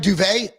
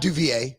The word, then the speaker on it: Duvet: Duvet, not Duvier or Duvet.